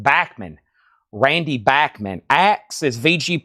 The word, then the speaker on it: Bachman: We call that Bachmann Turner Overdrive. His that last name is actually pronounced Bachmann.